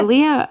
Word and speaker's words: Ahlia: pronouncing your name right? Is it Yeah. Ahlia?